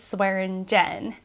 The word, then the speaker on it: Swearingen: was jen and she had a bad habit of swearing so what they called her was swearing jen um so those are